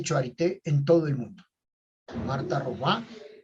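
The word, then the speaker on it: Marthe Robin: Marta Robá, que se escribe Marta Robin, ¿ya? Se escribe así, Marta Robin, pero es Marta Robá.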